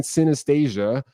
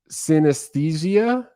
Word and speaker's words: synesthesia: in my video if i was saying synastasia and then jeff the keyboard said that's not how you say it this you say it synesthesia come on i can't